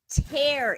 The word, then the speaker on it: tear: piece of paper and tear it so tear is spelled te AR and that rhymes with care absolutely alright I'm gonna